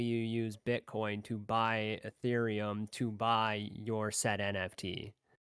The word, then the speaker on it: Ethereum: need what's called what i don't want to say this word wrong i always say it wrong your wreath your oh uh ethereum ethereum that's it so you convert your